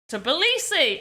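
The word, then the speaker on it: Tbilisi: of visity places okay I need to know how to pronounce this because this is ridiculous how to pronounce copy paste turbulisi to belisi to belisi I was saying it right to policy there we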